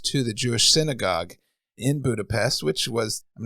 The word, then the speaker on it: Budapest: know was born in Budapest Hungary that's right pronunciation Budapest when I was serving as a missionary and